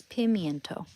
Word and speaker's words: pimento: It's pimento.